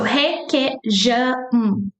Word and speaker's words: requeijão: But J in Portuguese never sounds like H, ha, he, he. No, never. It always sounds like ja, jo, ju, ja, ju, ju, ju, ju. Okay? So this is Jean sound. Je, je, okay? So requeijão, requeijão, requeijão.